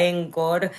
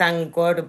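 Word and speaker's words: Encore: Em, Mabel, eh, por acá preguntan sobre la herramienta Encor, eh, que me estoy dando cuenta que la pronuncio a mal, es ancor por lo que te escuchaba. eh y y cuánto de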